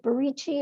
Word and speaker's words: Barici: Falcone and Mr., is it Barici, am I pronouncing it correctly? That's correct.